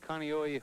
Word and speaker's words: Kaneohe: live in hawaii here's the how do you pronounce that place kailua kailua and that's kaneohe hawaii kaneohe hawaii and this young girl is